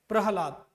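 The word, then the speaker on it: प्रह्लाद: प्रहलाद, यहां पर देखो ह का उच्चारण पूरा नहीं हो रहा है, हम बोलते क्या है, प्रहलाद, ये ऐसे रहेगा प्रहलाद। तो ह यहां कम उच्चारण हो रहा है, सबसे ज्यादा उच्चारण क्या हो रहा है, ला और द, प्रहलाद, प्रहलाद। क्लियर है। तो इसीलिए द में उच्चारण हलंत न लग के यहां पर ह में हलंत लगा हुआ है, और हल का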